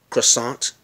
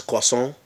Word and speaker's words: croissant: went we may say you may say croissant but in French it's cross on so these things matter